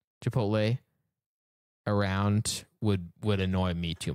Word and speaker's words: Chipotle: Partly because I had a friend who used to just switch the L and the T. Chipotle.